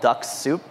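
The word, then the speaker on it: Dux-Soup: use a tool called duck soup so that's spelled D as a dog you X and sou P duck soup it's a weird name I know I think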